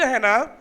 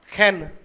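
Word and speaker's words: חן: नून, खैत और खैन, खैन बोलते हैं उसको। जो सही प्रोनाउंसिएशन है खैन, खैन। सारे बोलो खैन। हैन नहीं, हैन मैंने मुर्गी होती है, हैन नहीं, खैन, खैन, यस।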